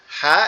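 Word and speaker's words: ح: এই নোক্তা নাই এই হা এবং নোক্তা নাই এই আইন এই দুইটা অক্ষর কোথা থেকে হবে আমাদের এই কন্ঠনালীর এই মাঝখান থেকে অর্থাৎ এই যে উঁচু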